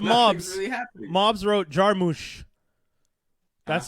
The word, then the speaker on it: Jarmusch: Mobs wrote Jarmusch. That's how you pronounce it.